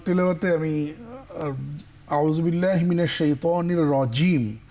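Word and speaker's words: الرجيم: কেমন আউজুবিল্লাহি মিনাশ শাইতানির রাজিম বিসমিল্লাহির রাহমানির রাহিম তোমার তেলাওয়াতে আমি আউজুবিল্লাহি মিনাশ শাইতানির রাজিম জিমটা শক্ত পাইনি রজিম বলো দেখি রজিম আমি রচিম চিম শুনেছি রজিম রজিম বিসমিল্লাহ পড়ো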